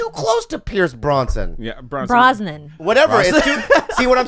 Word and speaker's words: Brosnan: want to call it you said Pierce Bronson yeah that's a that's absolutely not as that's not right brah Brosnan Brosnan yeah yeah how do you